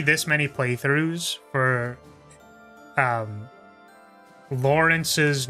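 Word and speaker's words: Lorenz: for me to know that his name is actually Lawrence. It is actually like Lawrence like L a w like Lawrence. So, but it but like it it really is typed like it is spelled Loren. So, it feels like I want to call it Loren.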